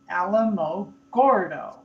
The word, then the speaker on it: Alamogordo: Alamo, the Alamo. And then you go Gordo, Alamo, Gordo. Just if you do it phonetically, that's the way.